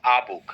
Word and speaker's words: a: বলছি আ, সরি এ, ওইটা আসলে এ না, আর্টিকেল হিসেবে এটার উচ্চারণ হচ্ছে আ। কি? আ। আ। তাহলে এখন থেকে আস্তে আস্তে এ ভুলে যাব। হ্যাঁ, আর্টিকেল আই হ্যাভ রেড এ বুক বলবো না, বলবো আ বুক। হ্যাঁ, আ বুক।